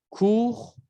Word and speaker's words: court: Court, courte. Se pronuncia la R y en femenino se pronuncia la T.